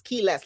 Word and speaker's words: Quiles: It's spelled Quiles, but it's keyless, like you lost your keys.